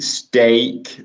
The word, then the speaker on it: steak: Steak, like also great, steak, steak.